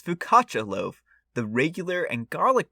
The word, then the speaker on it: focaccia: everyone's favorite game how much will brian brutalize pronouncing another word focky we're gonna have to look this up apparently it's pronounced fukacha so uh yeah i was way way way